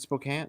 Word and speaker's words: Spokane: I mispronounced word. so Spokane. badly. I think that's it. Oh, is it Spokane?